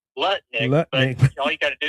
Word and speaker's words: Lutnick: He calls it uh Lutnick.